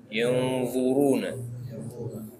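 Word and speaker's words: يَنْظُرُونَ: Jadi lidahnya lebih melebar dan nempel ke gigi atas.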